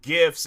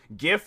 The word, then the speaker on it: GIF: I'm like, it's, you know, it's like Jeffrey, Jam, and it's like, and then gifts, it's like, you know, you think of like Christmas gift, like with a T at the end of it and stuff.